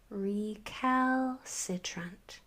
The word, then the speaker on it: recalcitrant: So, we have a short e that says e because of the tapo rule. We have what looks like a short e, but you're have to train train your brain to see that e r as one graphim that says the e is essentially silent. Here we have a short e that says e again because of the tattoo rule and this one.